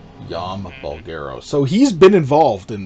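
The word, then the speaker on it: Jaume Balagueró: basically lifted to him his name it's pronounced yama bulgaro yama bulgaro so he's been involved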